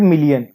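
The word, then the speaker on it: Malé: माले, MALE, मेल भी बोल देते हैं, पर अगर हम सही प्रोनाउंस करें इसको, इसका प्रोनाउंसिएशन क्या है? माले।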